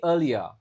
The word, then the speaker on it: earlier: Jadi yang pertama ingat, R nggak begitu dibaca. Ini cara bacanya earlier, bukan earlier. Jadi R-nya nggak bergetar ya, ingat.